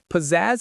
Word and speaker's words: pizzazz: The stress is all on that last syllable, zaz.